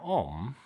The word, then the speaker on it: Om: Now om is it sound it's pronounced like this but it's actually written a u m. Now that a u in Sanskrit is pronounced as an uh or o or o or o sound. Uh yeah like the similar to the English o really but o the letter